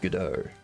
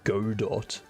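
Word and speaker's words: Godot: very true which means the correct pronunciation is gdo if you ever hear someone say God do or godo just go no no not it what do you mean my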